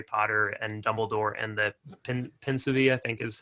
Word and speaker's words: Pensieve: like Harry Potter and Dumbledore and the Pensieve, I think is how you pronounce it, where he just like pulls the